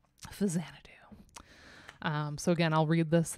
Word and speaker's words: Faxanadu: This is Jun Shikuma's soundtrack for Fasanadu, 1987. I said it right. I didn't say Faxanadu, which is what we like to call it on stream. Fasanadu.